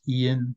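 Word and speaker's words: Iain: in his Emissary and the author is Ian which is spelled i a i n Mick Gilchrist Mick MC rather than mac okay thank you very much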